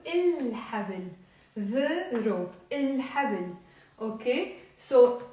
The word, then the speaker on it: الحبل: It sounds even wrong to say حبل, right? So منقول الحبل.